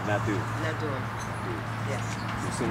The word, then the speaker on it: Nadeau: I say that with a horrible French bing to it, so how would you pronounce your last name, but the actual French pronunciation? Nadeau.